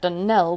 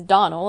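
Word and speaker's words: Donnell: as often as not as for that danelle woman she'll get no dunnelling from me i can assure you the name is donal and always has been the woman is crazy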